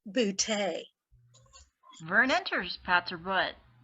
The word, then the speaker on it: Booty: your host bertha booty it's pronounced bootay vern enters pats or